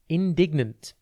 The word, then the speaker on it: indignant: TV today's word is indignant it's pronounced n dign and it is spelled i